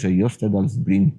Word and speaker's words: Jostedalsbreen: du plus grand glacier d'Europe continentale, à savoir Jostedalsbreen, si je le prononce correctement, si je le prononce mal, vous verrez le nom ici, mais probablement Jostedalsbreen, c'est à ça que ça ressemble, qui, malheureusement